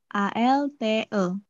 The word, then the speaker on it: altı: Altı. Altı. Nah, coba deh aja hurufnya apa aja? Altı. A L T E.